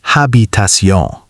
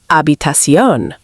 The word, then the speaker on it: habitación: simple and clean, Another mistake is pronunciation. especially with habitación. Some learners say habitación. But native pronunciation sounds closer to habitación.